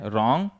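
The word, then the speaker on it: wrong: ठीक है, इसी तरह से रॉन्ग, डब्ल्यू से स्टार्ट हो रहा है, उसके बाद क्या है? आर। रॉन्ग।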